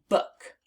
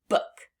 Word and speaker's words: book: So this word is book, book. Now let's spell it on our arms. B-O-O-K, book. Again, B-O-O-K, book. And that is the word book. And it rhymes with the word look.